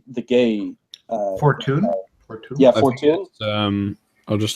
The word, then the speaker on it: Fortuyn: Fortuyn. Fortuyn. Yeah, Fortuyn. I'll just look up the pronunciation.